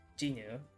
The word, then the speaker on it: Jinu: was really important, because their name is also Jinu, but it's usually Romanized as Jinwoo, so they often get their name mispronounced because people misunderstand the romanization.